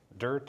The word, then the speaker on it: DERT: Both of you are active with the Deschutes Estuary Restoration Team, DERT, DIRT, if you want to pronounce the acronym.